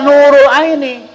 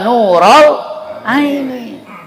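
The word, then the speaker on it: نورَ العين: nasab pakai fathah BAB Jadi munada itu ya nural Aini enggak boleh Ya Nurul Aini mesti ya nural Aini ya kenapa begitu ada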